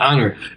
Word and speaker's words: honored: asked for eight th you don't pronounce it and you have one in English like that which is honored yeah yeah so you don't say ha-ah then you don't say horrible you say honorable and honored every ancient Spanish works